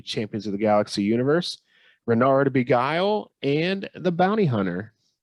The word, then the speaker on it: Reynard: pronounce things i've never i've heard it rendered renard and tom was calling him reinhard renard i've never heard him called renard it's definitely pronounced bernard